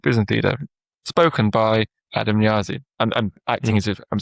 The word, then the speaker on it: Niazi: Niazi, spelled Niazi, and it pronounced it was Niazi, right? And I'm like, well, that's not how I say it. I say Niazi. So I had to type in NEE dash Y and then ZI, but then it sounded even weirder.